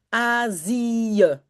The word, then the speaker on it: Azië: The two dots only mean start a new syllable. Do not say Indonesie, a long e, which is also written ie. No, it means say the i and say the e separately.